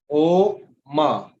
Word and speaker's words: ओम: तो आ ओ मा, ये 3 लेटर्स है जिसे ओम हम बोलते हैं। आ ओ मा या ए यू एम।